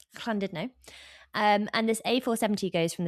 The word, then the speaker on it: Llandudno: There's one road that goes from Llandudno. Yeah, beautifully said. Thank you very much. I think it's actually clan. Well, it's spelt sort of, it looks like it should be Llandudno. No, Llandudno.